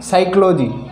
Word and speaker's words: psychology: तो एन तथा एस से पहले पी आए तो पी साइलेंट रहता है।